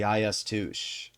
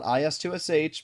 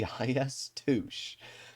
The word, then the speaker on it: IS-2: playing in the Soviet tier 8 heavy the IS-2 which believe it or not is how Russians have told me it's pronounced. Not IS-2SH but the IS-2.